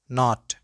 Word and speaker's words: knot: The words which commence with can, then K is not pronounced.